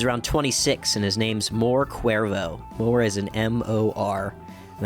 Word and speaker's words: More Cuervo: He's around 26, and his name's More Cuervo. More is an M-O-R, and then Cuervo is spelled C-U-E-R-V-O. I think it's a cool name, More Cuervo.